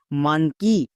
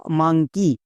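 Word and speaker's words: monkey: এম ও এন কে ই ওয়াই, মানকি বা মাংকি, যেটাই বলতে পারো, ভুল হবে না। তাহলে মানকি বলো বা মাংকি বলো, দুটোই সঠিক।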